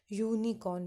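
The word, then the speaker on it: unicorn: हमने यहाँ पे बोल के इस चीज़ को देखना है, यूनिकॉर्न, यू की आवाज़ आ रही है, यू।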